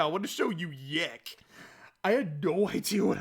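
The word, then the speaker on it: YIIK: game so first off y2k is spelled y i i k so it looks like yik and that was also when my friend pronounced it when he was first telling me about it so when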